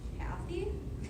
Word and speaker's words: Kathy: pronounce your name again Kathy that's right the emphasis is on the first syllable Kathy I always think